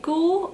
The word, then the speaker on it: Goulue: The rest of the blushes are now in the bottom section of my ranking, and the next blush is the Goule, or it's spelled Goulue, and this was like a gift from Sephora for like the VIB Rouge gift or something like that.